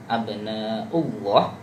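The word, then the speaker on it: أَبْنَاءُ اللَّهِ: lafaz abna'ullah, nahnu abna'ullah, hamzah pada u tadi kurang jelas ya, u-nya abna'ullah. Jadi kayak di apa namanya? Ditashilkan, jadi kayak u-nya kurang terbaca keras. Jadi u-nya kan salah satu sifatnya itu keras ya. Abna'u jelas, bukan abna'u.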